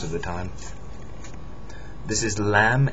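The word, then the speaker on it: لام: you anyway most of the time this is lamb it's the L it looks like a fish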